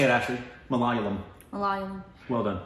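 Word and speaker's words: Malayalam: Is that how we pronounce it? Mallayum. Malium. Malum. Uh, language. Say it, Ashley. Malum. Mallayum.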